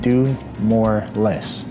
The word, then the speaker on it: DUMOARLES: You can find me on Instagram at DUMOARLES, and it's pronounced do more less.